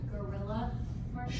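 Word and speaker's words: guerrilla: The gorilla marketing? Sure. Trade shows. Gorilla. And it's not spelled like the animal, it's spelled G-U-E-R-I-L-L-A. Gorilla marketing.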